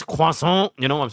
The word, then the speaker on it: croissant: Like, there's always a little huh it's not croissant, it's croissant, you know what I'm saying?